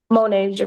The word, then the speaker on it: Monasia: It's And it's pronounced Monasia.